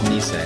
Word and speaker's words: Nisei: Tell me how you pronounce it. It's Nisei.